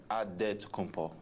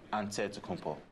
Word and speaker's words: Antetokounmpo: The Nigerian way, you gotta say it with a D. So it's Antetokounmpo. but in the Greek way, you say with the NT, like Antetokounmpo.